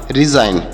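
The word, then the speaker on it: resign: में देख रहे हैं कि यहां पर जी साइलेंट है इसका उच्चारण नहीं किया जा रहा है तो हम इसे इस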